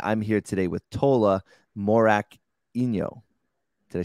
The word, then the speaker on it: Morakinyo: justin semani and i'm here today with tola morak inyo did i say it right yeah morak inyo it's like you're a little confused but yeah